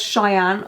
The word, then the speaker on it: Sheyanne: She said, I'm Sheyanne. Oh, pronounced as Cheyenne.